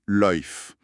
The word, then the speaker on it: lyfe: Ils introduisent, d'ailleurs, un terme spécifique, la lyfe, orthographiée l y f e et prononcée loïf.